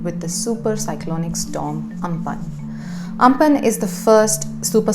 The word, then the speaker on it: Amphan: Amphan is written Amphan but is pronounced Amphan, just like Cyclone Foni was written Fani but is pronounced Foni.